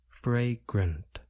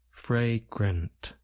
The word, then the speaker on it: fragrant: sounds a and a we generally Place stress on the first part of the word fry it involves the